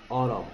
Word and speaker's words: autumn: Fall is the same as autumn. Autumn 쓸 줄 아십니까? Autumn 소리 안 나는 N. Autumn, autumn, autumn 이렇게 생겼죠?